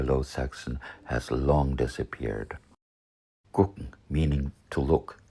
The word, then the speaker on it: gucken: Gucken, meaning to look, is pronounced gucken with a K sound.